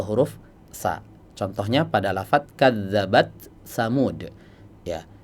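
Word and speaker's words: كذبت ثمود: Contohnya pada lafaz kadzabat tsamud. Ya, sebagian qura membacanya dengan idgham. Kadzabasamud. Tapi dalam riwayat Hafz ya yang dibaca adalah dengan cara izhar ya. Kadzabat tsamud tidak diidgam ya.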